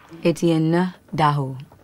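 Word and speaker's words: Étienne Daho: His name is how do you pronounce it? Etienne Daho. Etienne No. Etienne Daho.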